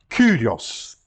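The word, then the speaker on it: Κύριος: Kyrios. Reparem, U. Não temos na nossa língua, pelo menos na pronúncia oficial do português, o som U.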